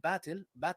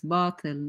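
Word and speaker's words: باطل: Yeah, by the way, it's batil, not batil. It's batil, which means falsehood, by the way.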